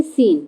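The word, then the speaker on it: scene: है ना हमको तो सी क्या है यहां पर साइलेंट वर्ड है तो यहां पे सी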